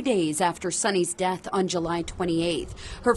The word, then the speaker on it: Sunni: My daughter's name is Sunni, and that's spelled S-U-N-N-I.